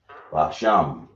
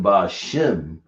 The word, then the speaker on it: Basham: Basham. I see some people putting Bashim, but I don't think there's no E sound in our language, is it?